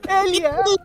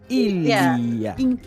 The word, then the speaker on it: Ilia: It's not Elia. Yeah, E. It's not an E, it's an I. Oh, this is my... Ilia.